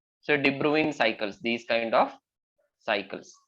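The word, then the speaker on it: de Bruijn: why the name is pronounced as de Bruin so debruing Cycles these kind of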